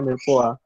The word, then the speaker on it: mirepoix: Ada mirepoix, ya, tulisannya mirepoix sih, tapi bacanya mirepoix.